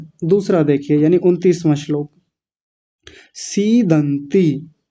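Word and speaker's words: सीदन्ति: सीदंती। आसान है, बड़ी मात्रा है, पहले तो बड़ा बोल लंबा खींचेंगे।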